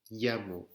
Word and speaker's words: llamo: Le double L se llama eye. Ça se prononce comme un Y. D'accord? Me llamo. C'est comme si vous aviez Y-A-M-O.